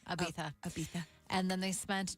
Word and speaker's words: Ibiza: They were first spotted together last summer on the island of Ibiza. That's how they say it. Ibiza.